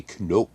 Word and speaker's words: Knoop: All right, so Bobby Knoop, which is how you say it in Dutch, by the way.